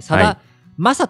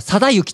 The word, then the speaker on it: 貞将: 将軍の章を下に使ってサマサと読み読んじゃうんだけどえあの佐幸と読むですがこれね佐幸って